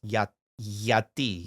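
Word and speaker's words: γιατί: In ancient Greek it would bei but now it's yati yati yati.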